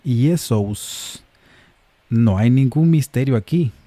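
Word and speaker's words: Ἰησοῦς: Así el nombre hebreo Yeshua añade un sonido al final y cambia el sonido de la sh por el s y entonces se convierte en Yesus.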